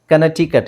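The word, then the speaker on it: Connecticut: ಇದೆ ಚಿಯಾವು ಚಿಯಾವು ಚಿಯಾವ ಕನಟಿಕಟ್ ಇಲ್ಲಿ C silent ಆಗಿರುತ್ತೆ ಓಕೆ ಇಂಡೈಟ್ ಇಲ್ಲೂ ಸಿ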